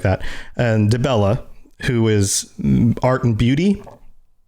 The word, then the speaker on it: Dibella: I read it as Diabella instead of Dibella.